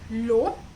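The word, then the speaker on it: L'Eau: This is the Body Shop White Mask Low. I finally figured out how to say Leau. It's pronounced as low.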